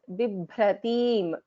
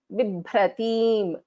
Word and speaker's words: Bibhratim: So the first letter in this word, B, is a Alpa Prana, B. It's pronounced easily with less effort. Bha, this second one is Bha, is a Mahaprana, pronounced with more effort.